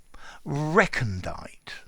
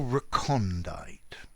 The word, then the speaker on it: recondite: Recondite or recondite. Both pronunciations are possible, but I think recondite is much more common. I, though, am going to use recondite.